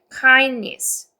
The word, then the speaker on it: kindness: 그 다음에 your your 이렇게 your 해서 your 그 다음에 kind 이거 같이 읽죠 이중모음 kindness 그래서 kindness에서 이거 D 발음 빼세요.